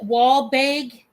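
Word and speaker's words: Walbaeg: It is by I think you pronounce it wall bag out of Hong Kong. W A L B A E G.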